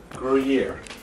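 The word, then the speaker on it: Gruyère: Gruyere.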